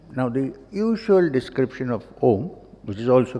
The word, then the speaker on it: Om: the usual description of om which is also correct we all know that that it consist of three syllables a u and M represents the simplest sound